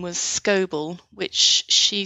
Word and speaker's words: Scoble: So my grandmother's maiden name was Scoble, which she spelt S-C-O-B-L-E. Okay. But lots of the older records spell it S-C-O-B-E-L-L.